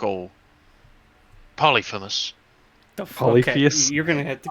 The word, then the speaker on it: Polyphemus: would give me peace they know like all polyphemus you're going to have to get right holly phallus she's got two dicks polyphemus one dot one eyed awfully cyclops name interesting one eye six syllables jesus i mean uncultured man would think